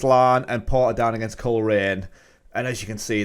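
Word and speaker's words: Coleraine: colerain i'm i've been told that's how you pronounce it i've been going for coloring but it's colerain so unless i've been duped that's what they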